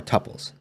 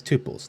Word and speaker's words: tuple: end here all right next up are tuples also sometimes pronounced as tuples those are both accepted pronunciations they are similar to